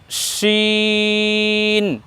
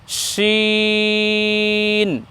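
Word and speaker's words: شين: এরপরে যখন শিন বলছি শিন বলার সময়ও কিন্তু ঠোঁট বা মুখ গোল হবে না দেখুন শিন শিন শিন আমরা এভাবে উচ্চারণ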